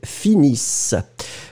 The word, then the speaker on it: finissent: So the last one, finis, it will be with ENT as usual for the third person, but then you don't pronounce the ENT. So ils finissent.